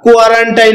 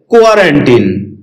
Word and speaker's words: quarantine: কোয়ারেন্টিন এটাকে আমরা কোয়ারেন্টাইন বলে থাকি। যার সঠিক উচ্চারণ হচ্ছে কোয়ারেন্টিন।